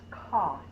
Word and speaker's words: cough: sound like graph okay the GH can say the F sound on all the other